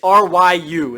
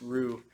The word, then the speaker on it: Ryu: So Ryu is R-Y-U. It's not just R-U, even though it's pronounced Ryu, but you can hear it's like Ryu. So there is a Y there.